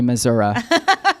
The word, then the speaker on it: Missouri: thing on this podcast we're going to pronounce Missouri mazura um let it be